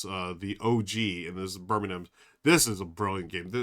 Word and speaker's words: Birmingham: Not Birmingham, like how we would say in the U.S., but Brass Birmingham.